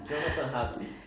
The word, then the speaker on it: Jonathan Hadlich: É essa a pronúncia mesmo, Exatamente. Jonathan? Jonathan Hadrick.